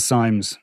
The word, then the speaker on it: Sims: Now, I have to say, Jason Sims, his name is pronounced Sims and Symes by either side, Okay.